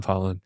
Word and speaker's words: Palen: You spell it out for him? Pollen, Palen. Yeah. For my last name. Because everyone thinks it's Palen, or at least I did.